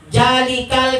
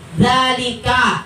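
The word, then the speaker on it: ذَٰلِكَ: Ya, misalnya muridnya bacanya jalikal kitab, huruf jim, padahal huruf zal. Ya, cukup kita perbaiki di situ. Zalika, bukan jalika, zalika, gitu.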